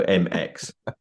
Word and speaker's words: Emecz: usually I say well just think of an m and an X and then you're getting close so MX and when um we